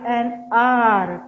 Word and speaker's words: hour: H is silent there. We should say the train is late by an R today.